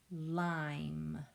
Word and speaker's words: lime: The silent E is not pronounced. The first word we are going to do is the word lime.